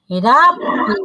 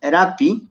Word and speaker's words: rapi: Y la pronunciación de las palabras, como dijimos, creo que en la primera clase, siempre va a ser, casi siempre, en casi todas las palabras, es grave.